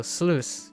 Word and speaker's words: sluice: And sluice is juice with SL. Like juice and then replace the J with SL.